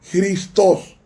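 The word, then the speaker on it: Χριστός: como un nombre propio cristo en griego se pronuncia cristos porque la acea que suena como gota es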